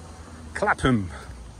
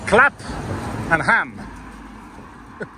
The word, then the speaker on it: Clapham: So after I filmed the National Crime Agency, I decided to come here in Clapham. I think I'm pronouncing it right. So it's Clap and Ham.